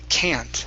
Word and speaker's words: can't: The only other part here is the vowel sound in can't. Instead of can and okay, drop the tongue just a little bit more.